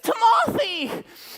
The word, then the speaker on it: Timothy: Hello, my name is Timothy, with the emphasis on the second syllable.